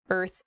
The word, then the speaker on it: earth: the word earth earth that r and the th sound can be difficult to pronounce together er f earth so this is a